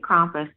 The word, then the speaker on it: Krampus: Well, forgive me for pronouncing it Krampus. That's only because that's how they pronounce it over there.